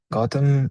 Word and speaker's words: Gotham: Gotham is pronounced like the city in Batman.